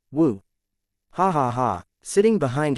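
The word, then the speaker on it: 舞: Martial arts is pronounced in Chinese as wushu, and dance is also pronounced as wu.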